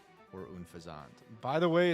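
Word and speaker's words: Unfezant: Pit of I don't I don't really be with pit of s or unfazant. By the way, it's pronounced unfazant, not unfasant if anyone was wondering.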